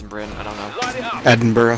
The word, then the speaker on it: Edinburgh: Edinburgh. Right, not... like yeah, Burr. There you go. Sounds so weird. I want to say the GH, Berg.